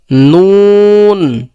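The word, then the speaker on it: نون: আর নুন কোথা থেকে উচ্চারণ হবে? যে জিহ্বার আগা তার বরাবর উপরে তালুর সঙ্গে লাগাইয়া। তাহলে নুন কোথা থেকে উচ্চারণ হবে? জিহ্বার আগা তার বরাবর উপরে তালুর সঙ্গে লাগাইয়া, নুন, নুন।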